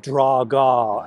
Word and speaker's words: Drago: they introduce us to Ivan Drago or Ivan draga as the Russians pronounce it and this is just